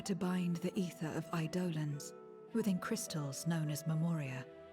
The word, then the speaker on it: Eidolon: fearsome beings known as idolans oh is that how that's pronounced i've been saying eidolons huh idolims the aseans